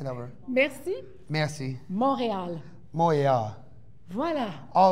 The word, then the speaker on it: Montréal: Merci meilleur. I don't know how to say that word. Merci. Montréal. Montréal.